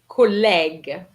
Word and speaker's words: collègue: Collègue. Remember Collègue. the E with that accent, with the accent grave. An accent grave gives you the E sound, so collègue.